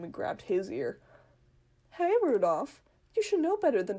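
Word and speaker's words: Rudolf: on it's just anyway this guy's name is pronounced rudolph he must hate grandfather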